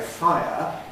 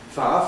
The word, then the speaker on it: fire: It seems to me that if you put everything present and say fire, you're more or less just saying it as two syllables, not compressing it. If, on the other hand, you say it as one syllable, far far station, far brigade, as I usually do, then that necessarily involves smoothing as well, losing the E element from it.